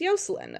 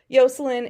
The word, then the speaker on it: Yocelin: spell it differently but yoslin is how a lot of how you say Jocelyn because the the in Spanish because in Spanish if you